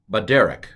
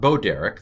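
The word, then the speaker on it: בַּדֶּרֶךְ: U shate kalo teha ima v'telak na baderek. Not boderek, that's something different. Baderek.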